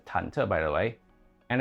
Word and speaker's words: 忐忑: Oh, the word is pronounced 忐忑, by the way, and it has nothing to do with the upper parts of the characters.